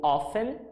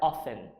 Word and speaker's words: often: Children often ou often, a gente pode pronunciar essa palavra aí dessas duas formas, tá? A mais comum é often.